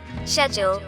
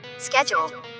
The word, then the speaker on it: schedule: تو آئیے دیکھتے ہیں کہ اس کا برٹش ایکسینٹ میں اس کا تلفظ جو ہے وہ کیا ہے. Schedule.